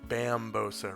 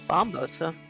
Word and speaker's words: Bambosa: It's Bambosa, right? Bambosa. I thought it was Bombosa. Bombosa bomb. Bombosa. Oh, but it's spelled Bam. I'm sorry. It That is. was what you were asking. Yeah. Bam. Yes, it's spelled Bam. Okay. Bam, like when he hits the enemy.